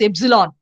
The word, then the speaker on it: epsilon: And here, one important string you have to know, that is the empty string, which is denoted by epsilon, which is pronounced at epsilon.